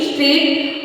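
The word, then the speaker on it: street: चीज है फ्रेंड्स की अगर एस के तुरंत बाद कोई कंसोनेंट होता है तो उसको हम स्ट्रीट बोलते स्ट्रीट जैसे स्ट्रीट ई नहीं लगाते है बहुत से लोग स्ट्रीट बोल देते हैं स्ट्रीट नहीं दिस इ रंग ये होता है स्ट्रीट स्माइल एस एम आई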